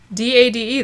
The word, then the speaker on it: Dade: D-A-D-E, that's Dade. To me, that's just. No, would be D-O-D. To me, I would just say. Okay. I ain't going to fight over pronunciation. This is English you're talking about. I'm not talking about... If you put an E at the end, that usually makes the vowel long.